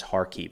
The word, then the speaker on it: Kharkiv: As a quick note, Russia generally refers to this area as Kharkov. Ukraine refers to it as Kharkiv. It's the same area, same region, just pronounced 2 different ways.